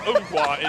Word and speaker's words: Ngwa: Yeah, just to correct my pronunciation, it's Adriel Ngwa. Sorry, I should butcher it again. Ngwa is the way it's supposed to be said.